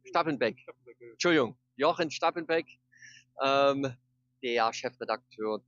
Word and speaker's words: Stappenbeck: Also neben mir ist Jochen Stappenbeck, habe ich den Namen richtig ausgesprochen? Stappenbeck.